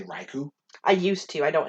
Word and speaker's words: Raikou: i fixed it because it was suicune and raiku and entei yeah yeah and yeah sorry i